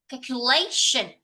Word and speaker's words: calculation: word fing calculation but actually I have a stress a little bit wrongly for the word. I should read it like calculation. Calculation like that.